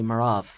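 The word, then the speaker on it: Merav: from of kings and Prophets uh you play marav right is that the correct way to say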